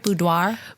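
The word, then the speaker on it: boudoir: absolute favorite um do I say it right budoir budoir bu yes so I am a photographer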